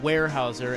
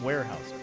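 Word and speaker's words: Weyerhaeuser: I am told that it is warehouser and they are a timber company. I thought you said wire. I did but I mispronounced it. I'm told it's warehouser. Well everyone knows warehouser.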